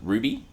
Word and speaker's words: RWBY: in the acronym r w y which is pronounced Ruby yes is Ruby the character's name spelled r